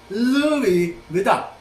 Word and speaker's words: Louis Vuitton: Hindi pinupronounce ang N. Sa mga sosyal, Louis Vuitton. Hindi Vuitton, Louis Vuitton. Hindi ganon.